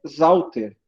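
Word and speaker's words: Sauter: O Zauter se escreve com S, mas se pronuncia como Z.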